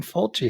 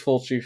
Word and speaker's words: Fulci: So And the last name of the director rhymes with Mulchi. Ah, we're going Fulci here, huh? Yeah, so this is a Fulci, The House by the Cemetery.